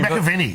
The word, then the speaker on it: McAvaney: How would you have pronounced your own name? Is it McAvaney? Is it? I would have said McAvaney. It's McAvaney.